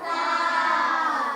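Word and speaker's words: ث: ফোটা পাইলে তার নাম সা তার নাম সা উচ্চারণ কেমন হবে সা উচ্চারণ কেমন হবে সা জেহুব্বার আগা হতে নরম ভাবে সাজেব আগা হতে নরম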